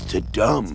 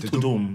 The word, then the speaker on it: Tudum: How do you even pronounce that? I thought it was Tudum. I think it's Tudum.